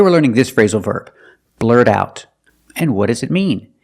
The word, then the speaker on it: blurt out: because it's a secret let's look at pronunciation when you say blurred out the T and blurt is a fast D blurred out blurred out the T and out is a stop T because the next sound is a consonant blurred out that the th and that is a consonant so the T and out is pronounced as a stop T blurred out that link the sounds blurred out that Emily's